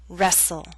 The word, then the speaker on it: wrestle: say Christmas only Christmas now here's a list of words in which a t- sound is left out note that this list is not complete listen as I say the words bustle Christmas hustle mistletoe whistle wrestle now bustle and hustle